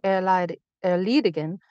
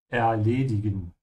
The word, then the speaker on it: erledigen: Ich habe etwas zu erledigen und daher keine Zeit für Spielchen. Yeah, remember in German, it's an A, not an E. Erledigen.